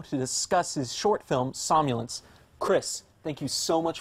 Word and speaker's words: somnolence: joins me now to discuss his short film samya lence Chris thank you so much for coming on the show am i pronouncing that right somnolence somnolence yes good perfect because there's there's an odd